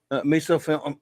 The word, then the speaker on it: misophonia: Angel says, sorry, but my misophonia, how do you pronounce that?